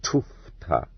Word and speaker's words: tufta: I have been reproached with spelling this word incorrectly, and told that it should be written as it is correctly pronounced in thieves' jargon, tufta. For tuchta is the peasants' assimilation of it, just like Fyodor for Fyodor.